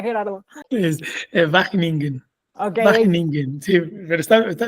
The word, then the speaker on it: Wageningen: ¿Cómo se pronuncia, Gerardo? Es Wageningen.